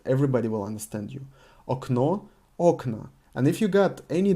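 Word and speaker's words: окна: as a aknow but in the plural the first o is emphasized and because of this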